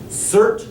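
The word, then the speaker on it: Surt: s u r t rhymes with dirt C is a fire giant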